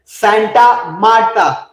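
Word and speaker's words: Santa Marta: तो सबसे पहला लिखिएगा कोलंबिया के अंदर, और वो जगह है that is very important, सेंटा मार्टा। वैसे सेंटा मारते नहीं है, लेकिन फिर भी सेंटा मार्टा लिख लीजिए, सेंटा मार्टा।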